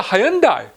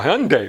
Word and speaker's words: Hyundai: to be sitting down for this it's a hyundai or hyundai wherever you want to pronounce it uh yep do not adjust your